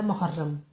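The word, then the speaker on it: محرم: वाले से तो यह पहला महीना होता है मुहर्रम तो य मीम हे रे मीम मोहर मीम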